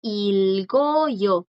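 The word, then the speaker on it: 읽어요: Y ya conjugado, ilgoyo. Aquí sí suena porque le sigue una vocal.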